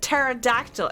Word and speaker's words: pterodactyl: I heard somebody said pterodactyl and I was like wait wait where's the P where's the p it was a silent p I'm 12 years old